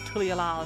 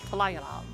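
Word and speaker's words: Tuliyollal: It's not Tulialal, it's Talayalal.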